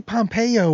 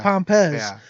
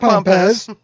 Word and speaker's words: Pompez: that uh alex uh i always wanna say pompeo or something instead of pompez like i think there's gonna be a third syllable guess what there's no third syllable just pompous it's actually a slight